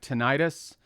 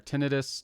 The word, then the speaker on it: tinnitus: it's also you know I have tinnitus or tinnitus depending on how you want to pronounce it and there's a really